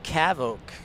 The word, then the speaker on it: CAVOK: day would probably be um let's go with cavok the word of the day is cavok as